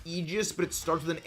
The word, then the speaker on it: Aegis: It's pronounced Aegis, but it starts with an A, so I'm not gonna be one of those people that's like, oh no, it's A.